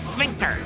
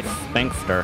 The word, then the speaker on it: sphincter: But then you did say sphinxter. Oh, yeah. It's pronounced sphinxter, but it...